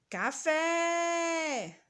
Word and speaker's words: café: de oxítona e o último exemplo café a sílaba que nós demoramos mais pronunciando foi o pé o fé é a última sílaba da palavra portanto ela é oxítona na palavra café a